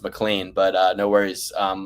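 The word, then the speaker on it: McLean: He's like, "I'm in Mlean, Virginia." I go, "Yeah, it's pronounced Mlan, but uh no worries.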